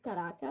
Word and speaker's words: Caracas: I don't know if the pronunciation is correct, but I'm gonna say it in Caracas. Caracas. Yeah, Caracas. correct.